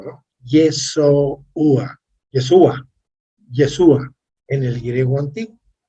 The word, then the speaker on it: Yeshua: Por ejemplo, dice, en griego antiguo, que es el quiné, es Yeshua. Lo pronuncié despacio a propósito, ¿no? Yeshua.